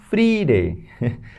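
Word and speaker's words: Freitag: but that's how I remember then we have free day free day because I see here Friday it's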